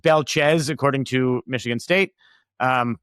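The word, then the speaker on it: Belchetz: It's pronounced Belchez, according to Michigan State.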